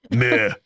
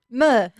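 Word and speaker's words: Meux: Mooks? Muix? It's pronounced, I looked it up. Ugh. Stupid French language. Meh. Muh. Meh. I literally typed in my notes pronounced M-U-H.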